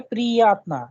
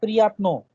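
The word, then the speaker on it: приятно: प्रियात्मा, हाँ, because the stress is on e, that is why priyatna, not priyatno, because e is under stress, so the sound of o would be like a, priyatna.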